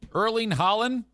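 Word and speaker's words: Erling Haaland: Erling Holland.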